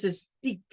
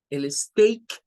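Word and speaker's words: steak: tenemos también en State no es Stick Porque si usted dice sticker de hecho está diciendo algo como que se adhiere es el State es un filete un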